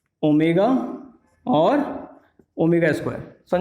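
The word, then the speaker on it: omega: ठीक है, इसको हम प्रोनाउंस करते हैं ओमेगा।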